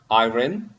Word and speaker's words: iron: iron, iron. So Iron, yeah. what is the correct pronunciation? Yeah, I think iron, I think. yeah, that's right. It's iron. Yeah, iron, yeah. Yeah, like this, iron, without ra.